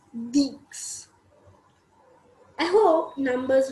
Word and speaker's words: dix: Then we have 10, which is written as Deeks, DIX, Deeks.